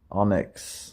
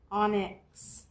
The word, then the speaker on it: Onix: Onix Onix, oh. Onix Sounds like our old cat, Onix.